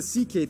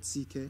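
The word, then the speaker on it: Székely: Then we get to the CK people, the second most populous minority. Yes, that's how you pronounce it, CK.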